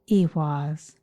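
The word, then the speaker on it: ehwaz: m as in mary its name is pronounced iwas and it means horse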